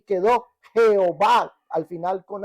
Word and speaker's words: Jehová: las introdujeron quedando de Jehová con h al final yehova que al venir a nuestro español la ye es como J o se pronuncia como j y quedó Jehová al final con h